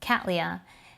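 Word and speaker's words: Cattleya: after a person's name you would pronounce it how the person would pronounce their name for example catelya is pronounced this particular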